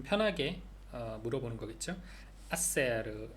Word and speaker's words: hacer: hacer H 묵음이고요.